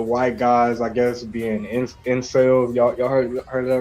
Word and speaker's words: incel: Intel. Explain. What's that? Is that Intel or Incel? No, incel, like INCEL.